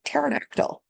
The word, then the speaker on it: pterodactyl: right so the tarid it's like pterodactyl okay silent P so ilos group so